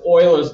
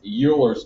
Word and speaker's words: Euler: things every time um but if you live in Germany and that's where this gentleman's from um in Germany the EU sounds like an oi so this is really Oilers number Oilers number is